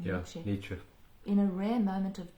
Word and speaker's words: Nietzsche: Yeah, Nietzsche.